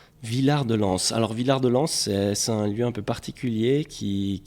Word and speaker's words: Villard-de-Lans: Maintenant, si on dit Villard-de-Lans ou Villard-de-Lans, pardon pour la prononciation. Villard-de-Lans.